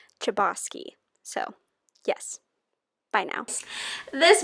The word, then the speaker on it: Chbosky: hi editing erin here i accidentally said the author's name wrong in the video but it's stephen chbosky so yes bye now